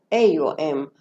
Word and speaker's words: Om: I prefer When we say this is exactly, it is written OM, but pronounced like AOM.